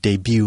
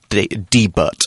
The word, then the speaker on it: debut: Louie things there's no the T is silent yes an example sentence